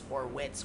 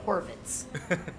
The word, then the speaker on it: Horvitz: So we have all different pronunciations of it. There's Horvitz, Horwitz, Horowitz, Horovitz, but we're Horvitz.